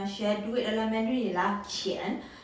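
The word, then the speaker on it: qián: Untuk Q kita perlu sebut dengan banyak hembusan angin, qi. Dan untuk ejaan yen di sini kita perlu sebut Y-E-N, yen, qian. Nada dia menaik.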